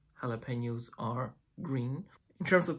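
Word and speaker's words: jalapeño: red but some say jalapenos are green in terms of pronunciation jalapeno jalapeno the Jay in the beginning of the word is not pronounced like a Jay but like it like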